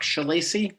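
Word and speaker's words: Schillaci: in um would you state your name and spell it for the record please sure it's shalacy and it's s-c-h-i-l-l-a-c-i and Mr shelacy what do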